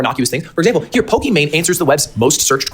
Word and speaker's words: Pokimane: That's why it's actually supposed to be pronounced Pokimane.